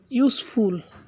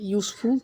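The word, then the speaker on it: useful: তাহলে এ needle is ইউজফুল, এই শব্দটার প্রথমে আমরা দেখতে পাচ্ছি ইউ আছে, ইউ একটি ভাওয়েল, ইউ থাকা সত্ত্বেও এটি ইউ এর মতো উচ্চারণ হয়েছে বিদায় এখানে আমরা এন ব্যবহার না করে আমরা এ ব্যবহার করব।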